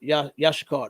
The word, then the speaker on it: Issachar: It said Yashikar. That's how you say it in Hebrew.